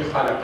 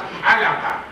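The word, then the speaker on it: خلق: It must be khalaqa, it is not halaqa.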